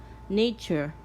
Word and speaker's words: nature: Nature, nature, nature. T-U-R-E is pronounced chur, nature.